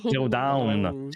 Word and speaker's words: Zero Dawn: Du coup, si je prononce bien le nom du jeu, parce que c'est pas le genre de jeu que je prononce. Oh, down. Zero Down.